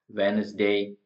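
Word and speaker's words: Wednesday: example कहां पर दे रखे साइन साइन नहीं वेनसडे silent before ji in common usage यहां पर हम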